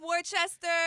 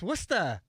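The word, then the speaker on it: Worcester: What's up, Wchester? No, see it's Wora.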